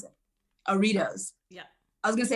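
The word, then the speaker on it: Artios: and television casting has garnered her nine cardio pronounce it aritos yeah i was going to say so this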